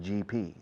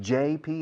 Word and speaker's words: JP Morgan: Recordad, G is G, J is J. Hay una empresa que se llama JP Morgan, un banco de inversiones. JP, JP, JP, JP. Curiosamente, hasta muchos empleados de JP Morgan en España dicen GP.